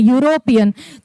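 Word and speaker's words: European: है वोवेल है इ लेकिन उसका जब हम उच्चारण कर रहे हैं तो यू से हो रहा है वाई यू से हो रहा है यूरोपियन तो इसकी वजह से यहां पे क्या लग गया?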